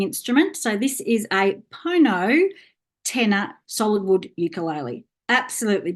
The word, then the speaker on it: pono: We pronounce the word pono, and pono means in Maori truth.